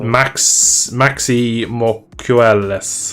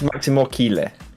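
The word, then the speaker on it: Máximo Quiles: Maxi Mocueles. I don't know how you say his name. He's in Red Bull Rookies. The only reason I know that. It's Maximo Kile.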